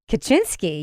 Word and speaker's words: Kaczynski: because it did instigate the capture of kachinsky kachinsky yes that is the other pronunciation of the name a thing that was